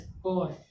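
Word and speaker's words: corps: यानी यहाँ पे भी एस से पहले पी आ गया, पी क्या हो गया, साइलेंट। जब पी साइलेंट हो तो क्या बचा, CORS, कोर्स।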